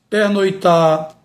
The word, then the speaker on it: pernoitar: Portanto, temos aqui exemplo de vários verbos que não devemos pronunciar com a vogal O aberta, e sim fechada. Afrouxar, estourar, pernoitar, roubar.